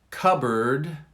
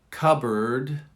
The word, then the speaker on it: cupboard: Covered, cupboard, covered. One more time. This is really difficult. Listen to the very middle of it. There's a small, but there is a difference, but it's very small.